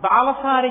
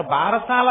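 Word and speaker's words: బాలసారె: గబగబా తల ఏదో ఆ బాలసారి చేస్తుంటారు భారశాల కాదు బాలసారే బాలసారే అంటే బాలునకు ఇస్తున్న సారే కానుక దాన్ని భారశాల భారశాల భారశాల ఎంత భారమైనా ఎక్కించారు అసలు దాని ఉచ్చారణ బాలసారే బాలసార యందు ఆ ప్రసవమైనటువంటి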